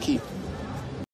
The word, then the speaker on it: Quay: No, that's actually pronounced Key.